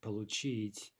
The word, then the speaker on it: получить: But again, we look at these two following verbs, говорить, получить, the stress is on the final syllable.